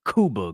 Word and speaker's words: Cuba: Well, I hear a lot of people pronounce it Cuba Gooding Jr. I think that's what he said it is. Not Q, Coo.